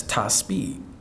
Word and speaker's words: Tihspeed: He said, that's Ty Speed.